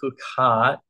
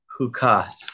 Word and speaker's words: Chukat: Porche is H okay huat or H or hukas okay also depends on your ashkanazi or spartic pronunciations of of certain words